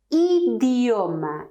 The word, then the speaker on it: idioma: Then for I, you have to pronounce like in ski, yes? Idioma, language, yes? So, when you see I, you have to smile. Look, idioma, if you put the mouth in this position, when you are smiling, you're putting the mouth in the correct position to pronounce the Spanish I.